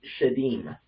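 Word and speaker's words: שדים: So the you have Shadim, or in modern pronunciation Shadim.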